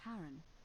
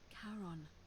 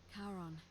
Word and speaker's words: Charon: It's just as you described it, only your pronunciation is a little off. The name you heard wasn't Karen. It was C-H-A-R. Ah! As in Charon, the ferryman of the dead. Charon, who, in exchange for the right coin, helps